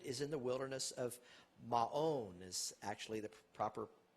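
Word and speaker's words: Maon: in the wilderness of ma own is actually the proper pronunciation looks like macon without the c there but you can see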